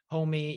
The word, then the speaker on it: homi: They call it hand plow, homie. Yep, and that's spelled HO-MI.